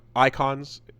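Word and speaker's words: Eikon: No, it's they wanted to say icon like I O N, but they wanted to make it sound fantasy style, so they put an E in front of it.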